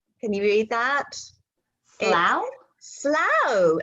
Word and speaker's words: Slough: Slough, and it rhymes with plough.